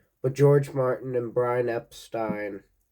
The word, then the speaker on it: Epstein: But George Martin and Brian Epstein, it's pronounced that way, not the other way.